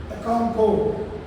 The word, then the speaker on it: Okonkwo: This is how to pronounce it. Okounfo.